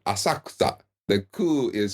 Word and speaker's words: Asakusa: place in Tokyo called asaksa when you look at it it looks like it says asakusa but that middle syllable is almost silent asakta the coup is silent